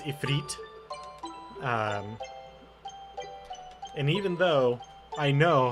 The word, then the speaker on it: Ifrit: always for the longest time I called him Ifrit until I actually learned that it's a feat and even though I know how to pronounce